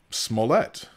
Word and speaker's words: Smollett: I've learned how to say his name now Smollett but he declined to turn over his phone